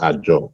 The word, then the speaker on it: Azure: Amazon AWS, Microsoft Azure, pronounced Azure, even though it's written Azure.